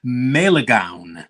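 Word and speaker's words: Malegaon: Yeah, it's Melegaon. Melegaon is it? Yeah, it took me a while to learn how to pronounce that.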